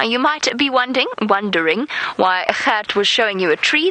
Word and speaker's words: Gert: That is Gert, for those of you that are struggling with pronunciation.